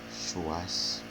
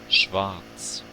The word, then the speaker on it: Schwarz: Schwarz, Mas eu vou continuar chamando de Schwarz. Tá? schwarz, Tem um tipo um V no meio do caminho.